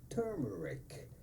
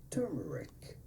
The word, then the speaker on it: turmeric: So how do you go about pronouncing the name of this spice? Simply turmeric, turmeric, turmeric, turmeric, turmeric spice, turmeric.